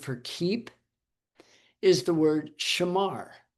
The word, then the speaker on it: shamar: That word for keep is the word shamar. And if I was going to spell it like phonetically, it' be s h e m a r. Shamar.